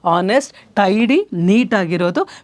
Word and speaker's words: honest: you know uh Nest H is silent all right I hope